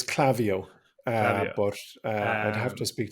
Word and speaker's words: Klaviyo: much business to uh is it clavio or clavio well the way I've pronounced it is clavio uh I'd have to